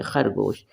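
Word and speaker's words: خرگوش: खर का फ गो शीन साकिन जो आखिर में बनाते हैं और जो जुड़ता नहीं है किसी के साथ कंप्लीट पूरा वर्ड लिखा जाता है उसको साकिन बोलते हैं स्टॉप यानी कि साइलेंट यहां पर हम स्टॉप कर रहे हैं हम साइलेंट कर रहे हैं शीन को खरगोश ऐसे हम प्रोनाउंस करेंगे खरगोश दाल दरख ट्री ट्री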